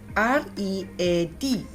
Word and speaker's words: read: R-E-A-D, read. The spelling remains the same, but in the past tense, you need to pronounce it as read.